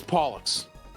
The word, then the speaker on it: Pollux: I'm pretty sure it is Pollux. I thought it's. I'm pretty sure you do- Pollux, Yeah. I'm pretty sure you do pronounce the X. Because in Chinese, I'm back. it's Pollux.